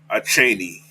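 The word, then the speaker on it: Achane: that I like right there all right Yvonne a Cheney that's how you pronounce his name that's how I'm gonna pronounce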